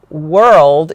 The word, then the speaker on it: world: But if you can pronounce the word whirl, then the word world is a little easier to pronounce.